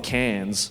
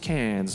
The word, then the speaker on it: Cairns: I remember when I was up in Cairns one time, which is Wait, where? Cairns? Like in France? No. That's Cannes. Cairns is spelled Cairns. Yeah, right?